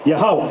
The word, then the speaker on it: Yahweh: The name Jehovah, translated in the Lashon Kodash, is pronounced Yahweh.